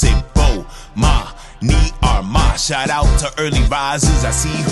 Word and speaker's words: Bomani Armah: announcements imma say my name so you can pronounce it oh ma me are my shout out to early advisors thanks for having